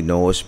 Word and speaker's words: โน้ส: แต้ พานิชย์ นะ ครับ สะกด ชื่อ เล่น เค เนี่ย เ ใช้ สอ เสีย กัน แต่ เรา ออก เสียง ว่า โนต เหมือน ตัว โนต แต่ ความ จริง แล้ว คือ โนส เพราะ ว่า เป็น การ พูด ถึง จมูก ที่ โดด เด่น ของ คุณ อุดม อ่ะ นะ ครับ ก็